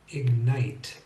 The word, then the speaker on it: ignite: I can think of one exception to the GN rule, and that's the word ignite. And the reason why it's an exception is it's easy to pronounce because the G is in one syllable and the N is in the next syllable, ignite. So it's much easier to do.